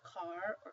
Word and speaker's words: caro: This one would be pronounced carro, whereas this one is caro. So that's how they make the distinction between the two words, carro, caro.